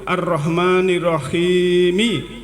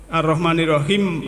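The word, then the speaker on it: الرحيم: Kalau diteruskan membacanya itu arahmanirahimi Maliki yaumiddin jadi ada itu Rahimi itu ada ya Ya yanya Ya Sukun itu rahim itu harus dipanjangkan kalau arahmanirahim langsung Ma berarti ynya itu tidak terbaca jadi harus nya Kalau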